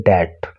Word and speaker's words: debt: द डेट were paid of, देखिए इसको DEBT, इसमें वी जो होता है, बी जो होता है ये साइलेंट होता है, इसको आप डेब्ट नहीं बोलोगे, इसको बोलोगे डेट।